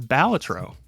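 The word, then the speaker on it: Balatro: And uh I learned that the uh correct way to say Bellatro is Batro. Didn't know that.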